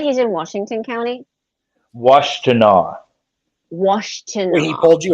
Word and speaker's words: Washtenaw: Washtenaw. Washtenaw. When he pulled you aside. Washtenaw. It's an Indian name. Can you spell that for me?